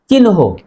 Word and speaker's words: চিহ্ন: যেমন এই শব্দটির শুদ্ধ উচ্চারণ চিহ্ন। অনেকেই আমরা বলি চিহ্ন, আসলে শুদ্ধ উচ্চারণ চিহ্ন নয়, চিহ্ন।